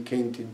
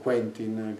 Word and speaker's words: Quentin: Ad esempio, ho un film di Kentin Tarantino, Quentin, credo che lo pronunci così, mia figlia mi corregge sempre, infatti ho sbagliato anche adesso.